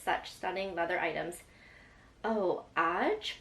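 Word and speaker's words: Aje: Oh, Aj? Pronounce like the number is so sick. I don't know how to pronounce that. Pronounce like the number? Age? Oh, age. I think she's saying pronounce like the number is so chic.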